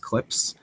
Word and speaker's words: CLPS: series of missions called clips it's clps there's no vowel in there but it's pronounced clips um and i think